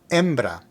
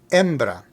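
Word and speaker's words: hembra: Baron embra means female remember the H in Spanish is silent so here we have embra embra now we just learned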